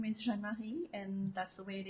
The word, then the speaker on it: Jeanne-Marie: So my name, I think people love the way I pronounce my name, Jeanne-Marie. I was actually meant to be a Jean-Marie, which would be a boy's name. I'm named after my great-grandfather, but I'm Jeanne-Marie.